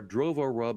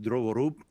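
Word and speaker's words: Drovorub: root kit boot kit hacking tool kits are drovo rub and fence pie or actually correctly pronounced druvorup and fenspy drovorup is of course developed by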